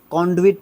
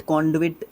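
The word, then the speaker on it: conduit: कॉन्डविट, कॉन्डविट इस तरीके से हम इसको प्रोनाउंस कर सकते हैं।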